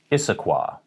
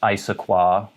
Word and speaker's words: Issaquah: home of the band modest mouse this is issaquah issaquah not isoqua or isoqua issaquah now you might look at